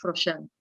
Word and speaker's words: Froxán: Yo sé que en psicotemas hablaron de la pronunciación, pero ¿cómo es la pronunciación correcta? Es Froxán.